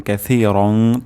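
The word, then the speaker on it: كثيرا: হামদান কাসিরং সা কাসি সিন হবে না সা হবে সা উচ্চারণ হবে জিহ্বার আগা সামনের দাঁতের আগার সাথে লাগবে হামদানীর মোবারক হামদানীর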